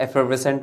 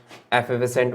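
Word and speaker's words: effervescent: American में इसको एफर्वेसेंट बोलते हैं, रा बोलते हैं, और ब्रिटिश और इंडियन प्रोनाउंसिएशन की तरफ चलेंगे तो इसको एफर्वेसेंट बोलेंगे, रा हटा देते हैं, लिख देते हैं एक बार।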